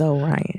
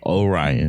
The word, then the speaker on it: Orion: It is Orion. Orion. I made myself a note so that we don't go back through this again. It was me. Too. It was me. I was the problem. Orion.